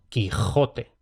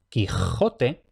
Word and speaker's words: Quijote: Entonces, esto como mínimo nos permite casi por completo desechar la pronunciación con sh para el Madrid de 1605, aunque ya resulta más difícil afinar si era la del medio o la de la derecha.